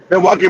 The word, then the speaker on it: Milwaukee: black um in Minnesota 50% in Chicago and Milki Miloki Gangster if I'm pronouncing correctly. Yeah. No, that's you got it right. Milwaukee, Wisconsin.